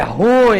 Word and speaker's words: ruim: é ruim hein não a pronúncia de acordo com a norma culta que A Norminha que determina é ruim ruim a vogal tônica é o i ruim duas emissões não é monossílaba não a ruim ela